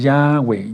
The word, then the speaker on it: Yahweh: ¿Y cuál es el nombre del Mesías y cómo se debe pronunciar? Hayá. Por eso decimos Yahweh, Yahshua.